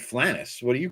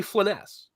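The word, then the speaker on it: Flanaess: I called it Flanass. Is Flanass? That's what I did. It's actually Flanass.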